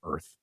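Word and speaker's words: Urth: still crawling around on what we call the planet Earth. But it's spelled U-R-T-H.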